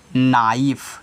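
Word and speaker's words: knife: पहले के आया है तो के को नहीं पढ़ना है तो इसको सिर्फ आप यहां से स्टार्ट करोगे देखिए कोई भी वर्ड हो कहां से स्टार्ट हो रहा है यहां नो से स्टार्ट हो रहा है यहां नॉक से स्टार्ट हो रहा है तो यहां ए भी स्टार्ट हो गया तो इसको क्या पढ़ोगे नाइफ क्या पढ़ोगे नाइफ चलिए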